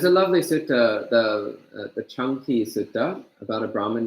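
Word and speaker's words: Caṅkī: a coincidence that it sounds like the English word chunky that actually is how the Pali word is pronounced CA n ki is pronounced chunky it does not mean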